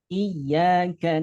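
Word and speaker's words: إِيَّاكَ: Kemudian ayat kelima, Iyyaka na'budu wa iyyaka nasta'in. Nah, iyanya ada ia bertasydid itu ditekan, tapi jangan ditahan. Cukup ditekan saja, jangan ditahan ya.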